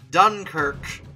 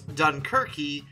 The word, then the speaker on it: Dunkirk: annoyingly like an idiot mispronouncing dunkirk as dunkirky because i'd never seen it spelled the french way before my apologies for